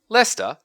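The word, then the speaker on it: Leicester: Lester, which should really be pronounced Lester, but for some reason isn't, is a really fantastic place to go if you're into old stuff.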